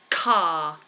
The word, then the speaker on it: car: to let you know the word car is a long vowel so that doesn't have the schwat ending it's a long vowel because it's it's one syllable so there wouldn't be a weakness in that car car is strong long vowel particular thank you particular